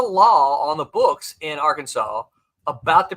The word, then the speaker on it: Arkansas: the river there but because it was spelled like Kansas the debate was in the Arkansas legislature as to whether you say AR Kansas or Arkansas Arkansas clearly one yeah he says followup